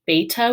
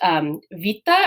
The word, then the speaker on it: beta: For example, I refer to the second letter of the Greek alphabet as beta with a B sound. In modern Greek, it's pronounced vita or something. It's similar to that. I haven't done a bunch of modern Greek, but I've had people tell me. And it's more of a v sound.